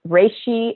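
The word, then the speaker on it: reishi: Google search RI mushroom and autoimmune disorder so RI is spelled re e i s h a RI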